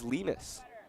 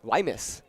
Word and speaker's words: Lemus: It is Lemus. How are you pronouncing it last time? Why miss? Really?